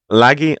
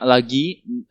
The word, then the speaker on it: lagi: Wait, what's the I sound again? Wait, lagi. Oh, sorry, it's an E sound.